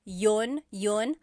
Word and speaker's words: yun: You might hear people say, ginawa ko iyon dahil mahal kita, but usually the letter I sound is dropped.